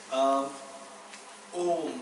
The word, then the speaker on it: Om: It is constituted of three letters: A, U, Ma.